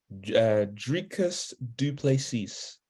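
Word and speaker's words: Dricus du Plessis: Dricus Duplessis.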